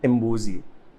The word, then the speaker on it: Imbuzi: That's how we came up with Imbuzi, and Imbuzi just means goat in Zulu language. Yeah. And it's not even Madness.